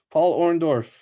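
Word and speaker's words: Paul Orndorff: Paul Orondorf. That is how you pronounce his name.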